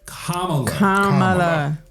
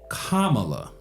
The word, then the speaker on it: Kamala: going with kamla Harris and her name is Kamala it's not that difficult it's it can't be that difficult Kamala ka la right that's how it's pronounced um